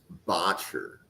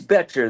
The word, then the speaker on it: Boettcher: Okay, next player we are going to cover, linebacker Bryce Botcher. Durst, you want to kick this one off? Yeah, it is Betcher. The O's kind of silent, but anyway, I won't be there.